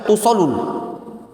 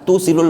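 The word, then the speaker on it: تُوصِلُ: Nah, lihat tadi ana bacanya tadi nak baca tusolul. Nah, enggak tepat itu. Emergensinya enggak cak itu, tapi tusilul ma'a.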